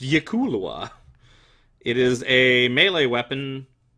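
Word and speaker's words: Yklwa: It is pronounced Yikulwa.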